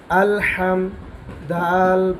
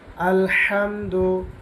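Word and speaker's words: الحمد: হা মিম জবর হাম আল হাম দাল পেশ দ আলহামদু আলহামদু এই শব্দের মধ্যে যে হাটা আছে অবশ্যই এই হা উচ্চারণ করতে হবে নচেৎ শব্দের অর্থ পরিবর্তন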